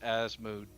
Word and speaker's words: Asmodeus: So, according to the almighty internet, both pronunciations of Asmodeus I hate that. I hate that. are acceptable. Well, Megan, of it's the Asmodeus. internet. Is the common one is Asmodeus.